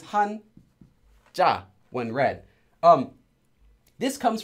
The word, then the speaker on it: 한자: of course from Chinese now this hon this character says Han in Korean if you read it in Korean and this character says JA the pronunciation this is Han JA when read um this